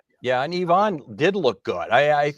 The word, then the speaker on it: Ivan: And what we're seeing for that eighth guy looks like it's pronounced Ivonne, not Ivan, although it's spelled Iban.